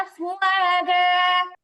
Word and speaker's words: أفواجا: আফ ওয়া, আফ ওয়া জা, আফ ওয়া জা। ورأيت الناس يدخلون في دين الله أفواجا.